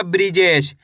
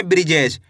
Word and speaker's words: बृजेश: देखिए किस तरीके से ब में ऋ की मात्रा ब्री ज में ए की मात्रा जे श तो मिल के बन जाएगा बृजेश। कैसे पढ़ेंगे? बृजेश।